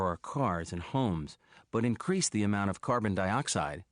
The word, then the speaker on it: increase: that when, for example, the word increase is a verb, the pronunciation is increase. But when it is a noun, we shift the stress and we say, instead of increase, we say, for example, an increase.